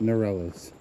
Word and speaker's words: Ngerchelchuus: And if you're wondering about the pronunciation, Mount Ngerchelchuus, the G and the CH's in the word are silent.